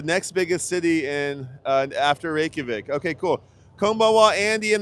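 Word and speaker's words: Reykjavík: Reykjavik. That's it. Reykjavik.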